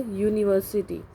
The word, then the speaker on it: university: A European, European, a university. So a, e, I, o, u are written but not pronounced here.